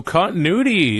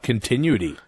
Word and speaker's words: continuity: get a quarterback so continuity is how you say it not continuty no yeah it's continuity like I don't know travel